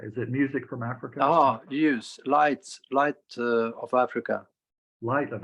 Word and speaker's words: Ljus: Now, how do you pronounce that? LJUS. LJUS. From Uh, from Africa. Is it music from Africa? use light of Africa.